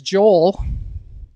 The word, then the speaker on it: Joel: it's Joel and they asked me how I spell it and I say Jo yell and they said oh that's Joelle and I'm kind of like no it's Joel